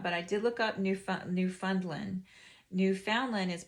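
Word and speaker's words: Newfoundland: look this up but I did look up new new fundland New Foundland is pronounced new Funland in uh Quebec Canada but com Kamchatka is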